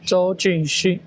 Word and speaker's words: Zhou Junxun: Is the pronunciation "Zhou Junxun"? Yes, Zhou Junxun.